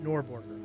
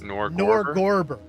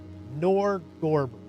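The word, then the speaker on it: Norgorber: Uh uh nor how is it pronounced? It's not norborger. I keep trying to say Norborg, but it's not. It is Nerdberger. Nerdber. It is Nor Gorber. Nor Gorber.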